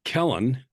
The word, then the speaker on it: Kellan: Why does Killian write so many books? Every book that, um, Kellan, I'm telling you how to say my name, that's okay, just so you know, okay, I'd want to know too.